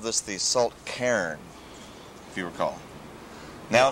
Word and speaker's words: cairn: People would call it like Cairns. It's one syllable, isn't it? It's supposed to be one syllable, you know, Cairn.